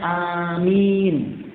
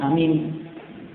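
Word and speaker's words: آمين: Di situ alifnya mamdud dan mimnya mamdud, sehingga bacanya amin, bukan amin. Karena itu nama orang.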